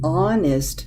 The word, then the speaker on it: honest: An honest mistake.